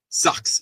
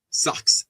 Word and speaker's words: sarx: Tout ceci devient plus clair lorsque l'on étudie de quelle manière le Nouveau Testament emploie le terme sarx. Donc ça s'écrit S-A-R-X, habituellement traduit par chair.